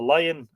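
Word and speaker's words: Laigin: continued enmity Between the Lion and the men of Tara but the connection of the lion or la la it's here spelled l-a-g-i-n the Lagan the lion with the death not l-i-o-n by the way with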